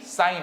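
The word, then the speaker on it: sine: सर आप साइन का spelling गलत लिख रहे हो, ई नहीं आता है, साइन ही होता है, जिसे हम लोग शॉर्टकट में क्या लिखते हैं? SIN। ये सिन नहीं, साइन है।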